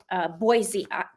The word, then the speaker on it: Boise: The trial's supposed to be held in Boise, Idaho. I'm saying it right, Boise. Not a Z.